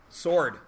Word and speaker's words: sword: Ord what the heck except it's not the only silent W in the middle of a word we do it more than once sword I said scored the